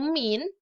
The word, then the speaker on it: mean: Nah, mean ini atau min dibacanya itu artinya adalah nilai rata-rata.